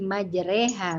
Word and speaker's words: majreha: Ya kalau di Alquran ditulis Tuh Disini imalah ada nggak biar perannya ditulis imalah dibawah ini dia roknya ada Mbak ada ya itu kita bacanya jadi Rey jadi pembacaan boekef hayyin ke kasrah miring jadi nggak nggak ih banget Tapi enggak juga jadi dia miring jadi majreha bacanya gitu ya Waktu oleh Russel